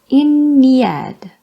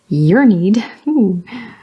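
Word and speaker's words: Ynnead: Speaking of Eldritch's favorite death god, Inead. Oh, Inead. Inead. I've heard some people say Yearneed, which makes the phrase you need, your need sound very strange when read out loud.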